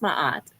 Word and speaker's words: Maat: Is it Maat or Matt It's Capital? it's Maat Maat.